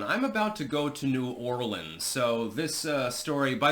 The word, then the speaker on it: New Orleans: Story by the way it's not nowlands it's not New Orleans although technically that would be more of the frankophone uh pronunciation it's New Orleans just call it New Orleans stop being fancy and